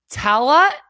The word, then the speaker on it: Tallaght: Before you were, building your very own house with your very own sauna, you were growing up in Tallaght. How did I do with that? Tallaght, yeah. Good pronunciation.